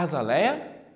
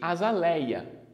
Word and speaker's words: azaleia: estão corretas são pronunciadas a azaleia e azaléia estão corretas oceania e oceania joia